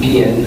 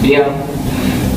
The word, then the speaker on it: bien: you'll notice again that you stop pronouncing after the last vowel, so you don't pronounce the N. It's not bien, it's bien, which means I'm good.